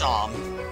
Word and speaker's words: Seam: My name's Seam. It's pronounced Shom.